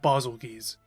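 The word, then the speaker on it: Bazelgeuse: The first came a month after release and it featured Apex Diablos, Apex Ralos, Chameleios, Kushala, Diora, Tostra, and Basogis.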